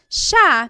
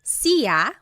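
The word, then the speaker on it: siya: so it's just you by yourself one person Sha means he or she and I want to point out that sha is gender neutral that means you have to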